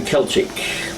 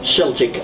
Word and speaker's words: Celtic: They're given that K sound in a hard sound, not the soft. You know the difference between Celtic and Celtic? Yeah. It's the same word, but just pronounced slightly differently.